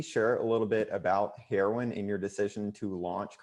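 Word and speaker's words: Heroine: I have to ask first, so is it pronounced heroin or is it? Yeah, it's heroin.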